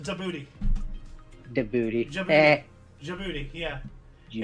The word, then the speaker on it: Djibouti: It's actually pronounced Djibouti.